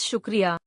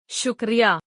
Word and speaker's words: shukriya: words the word thank you in uru Is shukria Zade said slowly making sure Lena could understand each syllable shukria Lena repeated carefully shukria she smiled as she